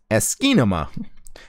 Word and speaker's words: asciinema: and open source program it's asy with Nema behind it kind of like asy Cinema but it's you're missing a syllable for it to be asy Cinema it's esima esima is a free and